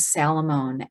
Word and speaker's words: Salamone: Anna, it's Anna, and then the last name is Salamone, S-A-L-A-M as in Mary, O-N as in Nancy, E.